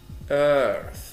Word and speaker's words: earth: Venus Earth TH ث وبنطقها air مكونة من air أظن earth وأضيف في الآخر ث earth.